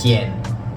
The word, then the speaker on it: quien: So first things first, we have the word of who, which is quien. Quien. Anytime you see this QU, it's going to be pronounced as a K sound.